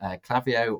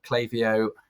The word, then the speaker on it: Klaviyo: yes, there's pretty much one email provider that everyone uses in Shopify, and that's Klaviyo or Klaviyo. People pronounce it differently. I haven't settled on one yet.